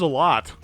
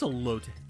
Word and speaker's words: elote: What is a lot? What this? It is elote.